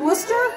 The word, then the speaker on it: Worcester: you'll come see us again somewhere you Wooster tomorrow night are you coming monster am I saying it right Worcester yeah that's where we're going tomorrow night come